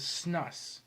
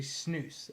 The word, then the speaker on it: snus: you'll know it is snus some of you are called snuffs but it's actually snooze s-n-o-o-s is kind of how it's pronounced spelled with a u and i think i